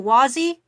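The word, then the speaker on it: Wazy: is a mouthful oh wazzy which is um spelled w-a-z-y and pronounced wa as in your um Wario or Waluigi it's like the wah from Waluigi and z um how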